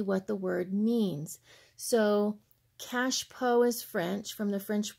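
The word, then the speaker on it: cache-pot: what they call a cash pot is what the word looks like but in French it's actually pronounced cash PO and my French is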